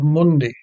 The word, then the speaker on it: mundi: Qui tollis peccata mundi goes to the first syllable of mundi.